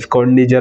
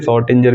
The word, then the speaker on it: Schrödinger: स्क स्कंडीजर बोलते हैं। वैसे शॉर्टिंजर भी बोल देते हैं। ठीक है? जो भी आपको प्रोनाउंसिएशन करना हो वो आप कर सकते हैं।